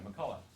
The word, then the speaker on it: McCulloch: And it starts back with cybernetics and with this guy, McCulloch. CH is silent.